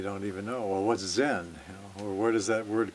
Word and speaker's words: Zen: the 1200s and and the japanese pronunciation of john is zen so the the word